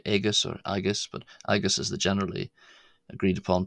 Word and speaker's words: agus: cool but I guess latin l aus or aus some people say agus or aus but agus is the generally agreed upon pronunciation for the word and gillick.